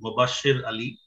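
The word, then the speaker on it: Sher Ali: sir so uh firstly my name is pronounced as shir ali actually a few of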